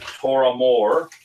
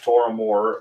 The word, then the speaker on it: Tormore: The name means in Gaelic, Toramore is probably how we're supposed to pronounce it. Toramore, meaning big hill.